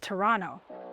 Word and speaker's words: Toronto: You gotta start pronouncing it right. It's Toronto.